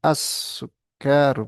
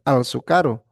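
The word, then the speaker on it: السكر: Jadi di sini ada kalau Syamsiah dia bacanya as ya asukaru bukan alsukaru.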